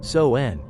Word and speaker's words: Samhain: the living chapter 1 the origins of Halloween sawin and the wandering Spirits over 2.0000 years ago in the wild and dense forests of ancient Europe the Kelts celebrated a festival they called sawin pronounced soen it was not a joyous event but a